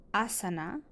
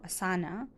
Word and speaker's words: asana: The one that's most well recognized is asana or asana, depending on how you pronounce it.